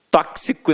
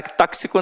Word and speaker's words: tóxico: Exemplos aqui, ó: gramática, tóxico, né, cara? Tóxico não, ó, tóxico, é isso mesmo, né?